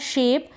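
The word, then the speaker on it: sheep: शीप क्या है शीप इसको शिप ना पढ़े शीप पढ़े ये जो डबल ई है यह बड़ी ई की मात्रा के रूप में पढ़ा जा रहा है शिप ना पढ़े शीप क्या पढ़ेंगे शीप और ये जो पी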